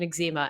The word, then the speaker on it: eczema: that before E eczema I would say ezema ezema yeah that's not the proper way to say it but fun fact my mom called it that my whole life and she has severe eczema and so now I can't like I've spent since I was a baby I've been told about ezema and then I turned 25 and told he was saying it wrong by someone who has